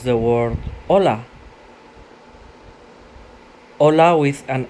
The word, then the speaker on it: hola: De cara B, hola, ejemplo, hola, me llamo Anderson, and it says an alert, the H is always silent in Spanish, no?